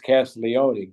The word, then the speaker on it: Castiglione: from Northtown aanda right because here it's cast Leone right but uh it